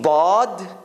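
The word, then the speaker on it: ض: There are two ways Arabs pronounce bod. One is your tongue hits the right side of the edge between your front teeth and your molars. So it's like in that corner.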